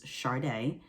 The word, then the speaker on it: Chardae: i'm not sure but how you pronounce my name is sharday um i can insert how to spell it um but yeah my name is chardae for those who don't